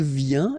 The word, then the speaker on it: vient: Then il vient, exactly the same sound, because final T here is not pronounced.